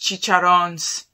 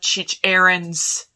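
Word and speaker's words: chicharrones: that stop saying that they're pronounced chicharrons not chich errands well he doesn't actually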